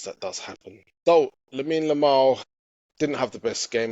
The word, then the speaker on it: Yamal: It's Yamal.